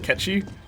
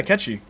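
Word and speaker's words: Cait Sith: but hey guys and push still call him kate says but i'll use the proper pronunciation catchy mostly because i never knew what it was until now yeah catchy that's how it it's like gaelic i think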